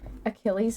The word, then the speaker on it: Achilles: I mean, it's Greek, so it's like we just take it in the same, but it's like Achilles.